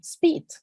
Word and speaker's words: speed: lo mismo pasa acá no sería Speed está muy suavecita muy chiquitica sin abrir mucho la boca y esta doble doble e tiene sonido como la i en español Entonces sí sí a